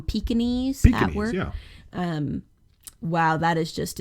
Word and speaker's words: Pekingese: look up um well it's spelled Peking geese but we call them Pekingese um wow that is